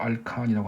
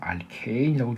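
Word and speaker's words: alkane: 포화탄화수소 알칸이라고 합니다. CnHen 플러스 E 맞죠? 이건 저는 발음을 그냥 알칸이라고 발음할게요. 알케인이라고 교수님은 읽으시는데 저는 그냥 알칸이라고 읽겠습니다.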